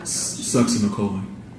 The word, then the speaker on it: succinylcholine: And how do you pronounce that again? Succinylcholine.